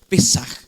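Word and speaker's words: פסח: Entonces, la palabra pascua eh en el hebreo, en el idioma del pueblo de Dios, significa pesaj, se pronuncia pesaj, que significa saltar o pasar por alto, pasar de lado, pasar por alto, saltar algo.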